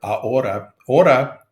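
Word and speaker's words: ahora: thinking about the word a ora h o r a of course we don't pronounce the the H it's like the word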